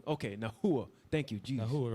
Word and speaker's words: Nahua: Okay, yeah, I'm seeing that's how I pronounce it. Nahua. Okay, Nahua.